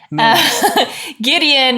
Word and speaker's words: Gideon: 8, which is when Gideon, which rhymes with Midian, but that has no real meaning. Gideon is leading an army to go and take over this Midianite city.